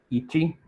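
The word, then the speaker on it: Yi qi: chino y se llama I-Chi. Se pronuncia I porque viene del chino, del mandarín, I-Chi, y cumple con las reglas establecidas internacionalmente para la elaboración de nombres científicos.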